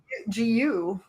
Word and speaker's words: Gnu: he has for the the name is GNU GU is how you say it or I thought it's just Gu isn't it? Uh on the back Oh, you're right. It's Gu.